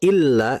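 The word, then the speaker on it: إِلَّا: Kemudian berikutnya bedakan antara membaca illa dengan ila. Nah, kalau illa berarti kan di atas lamnya ada tasydid ya. Nah, itu ditahan dulu. Ditahan illalladzi.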